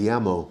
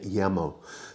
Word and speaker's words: llamo: Now, note the double L sound is y in Spanish. So where you see a double L, as you do at the beginning of the word llamo, the pronunciation is llamo rather than llamo.